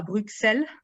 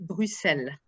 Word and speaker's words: Bruxelles: une prononciation internationalement reconnue la capitale de la belgique ne se prononce pas bruxelles mais bruxelles et j'ai noté autre